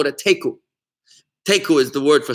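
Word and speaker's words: תיקו: You know, like in the game of chess, when you have a stalemate, you call it a teku.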